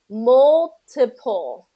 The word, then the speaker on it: multiple: So you haven't quite gotten to those dark L sounds yet, but it kind of has a vowel-like quality to it. So it's where you're not, your mouth, your tongue is not coming up and touching the roof of your mouth. Multiple. Multiple. Yeah, and Multiple. and you'll want to make sure that P is a voiceless and not voiced, because otherwise it sounds like B, ba ba ba, and pa pa.